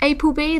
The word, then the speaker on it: APLB: from the brand aplb which is pronounced April B that's how they like you to say it um in Korean that's